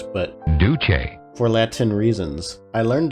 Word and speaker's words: Duce: out once I learned that Duce is not pronounced deuce, but Duce, for Latin reasons.